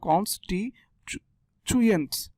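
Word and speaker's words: constituents: Cons টি আগে এভাবে উচ্চারণ করবে, কনস টি টুয়েন্টস, টুয়েন্টস বলবেন না, টুয়েন্টস এটা ভুল শব্দ, ভুল উচ্চারণ।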